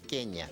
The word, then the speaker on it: Kenya: Y curiosamente el dígrafo NY en swahili se pronuncia ñ. Por lo tanto, en su lengua natal es Kenia.